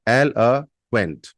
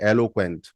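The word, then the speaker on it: eloquent: यू ई एन टी एल अ क्वेंट एल अ क्वेंट normally सुनने में लगता है ये एलो क्वेंट बट एलो क्वेंट नहीं होता एल अ क्वेंट एलो क्वेंट एलो क्वेंट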